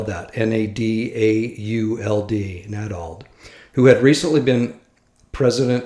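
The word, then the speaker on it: Nadauld: About 2 months later, I received a call from another church leader, Elder Stephen Nadald, I'll spell that, N-A-D-A-U-L-D, Nadald, who had recently been president of Weber State University and was now working for the church.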